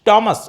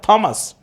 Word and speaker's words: Thomas: The correct pronunciation of the word is Thomas and not Thomas.